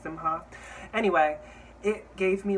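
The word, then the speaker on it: Simkhai: designer called jonathan simha i'm pretty sure it's pronounced simha anyway it gave me like old hollywood um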